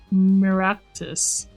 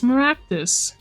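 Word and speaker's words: Meraktis: No, it's Maractus. Mal Maractus. Malpractice. Oh! Oh! It does sound like malpractice!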